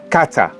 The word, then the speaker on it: Kata: So what is the best pronunciation for this town? Kate or Kata. Kata?